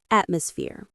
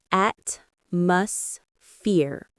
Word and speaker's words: atmosphere: Three syllables. Practice. This chair is comfortable. Atmosphere. Atmus fear.